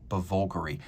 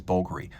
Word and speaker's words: Bulgari: for the love of God don't try to pronounce it bger the proper trade name pronunciation is bulgary I say this because people make the mistake